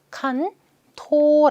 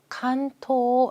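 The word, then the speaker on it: 関東: 이렇게 나누어 거든요 그래서 관동 이라고 할 때 발음 그대로 비슷하게 가요 칸 토 라고 합니다 관동 지방 간토 라고 할 거예요 자 오른쪽은 히라가나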